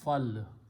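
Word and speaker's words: فَلْ: When you combine lam amr, you combine with the fa and pronounce as fal.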